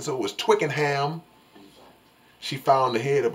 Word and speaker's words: Twickenham: It's Twicken. Twicken rhymes with chicken. So it was Twickenham.